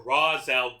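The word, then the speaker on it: Ra's: Side note, I know that Raz is technically more accurate to how it would be pronounced in Arabic, but DC has pronounced it race for so long in various adaptations that Ros just sounds wrong to me.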